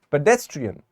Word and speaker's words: pedestrian: the word entry and you can see that this little Mark over here is telling us to put stress on the first syllable of the word so this is pedestrian I mean this part